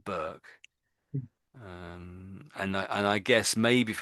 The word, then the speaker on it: Burke: So that's how that surname is pronounced, Burke.